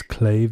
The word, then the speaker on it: clave: It's spelled as clave if you're English speaking, but the correct pronunciation is clave.